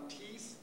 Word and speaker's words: Thies: He will come with his son Thies. You would pronounce the name Thies, T-H-I-E-S, a North European name.